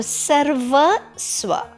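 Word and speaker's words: सर्वस्व: This part, when you make a line, okay, like a C, yeah, okay, you pronounce the half R before that letter. So Sarva Swa.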